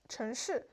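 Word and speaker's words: 城市: But he kind of slurred when he speaks city, 城市.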